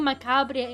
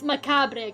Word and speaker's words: macabre: You don't say the rabbit. The R is silent. Since when is the R silent in the English language? Since when. It's Macabre, guys. It's French.